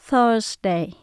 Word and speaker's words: Thursday: Và chữ S là chúng ta phát âm như là âm Z. Tuesday, Wednesday, Thursday. Ví dụ mình muốn nói